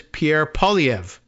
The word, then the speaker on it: Pierre Poilievre: say this guy's name and the answer is Pierre POV thank you video over we just saved a